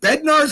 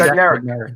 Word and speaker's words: Bednarik: Is it Bednarz was the middle linebacker back then? Am I saying it right, Keith? Bednarik, yeah.